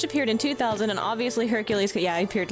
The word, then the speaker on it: Hercule: they'll have some guy call him Hercules. Um but it's Hercule, right? French.